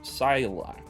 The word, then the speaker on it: Silak: The word for eternity should be pronounced Silak, starting from the end, but instead it's Krilasha, starting at the start.